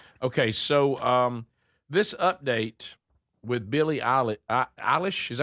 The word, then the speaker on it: Billie Eilish: Okay, so this update with Billie Eilish, is that how you say her name?